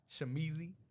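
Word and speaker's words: Shamizee: all platforms right uh shamizi you gotta say it like that too Young music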